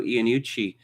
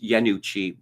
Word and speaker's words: Iannucci: It's like Armando Iannucci. He should properly pronounce Iannucci, but no, that just seems too foreign.